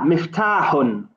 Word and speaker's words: مفتاح: Just make sure when you pronounce the ta, it's like an open ta. It's not ta. It's ta. Miftahun.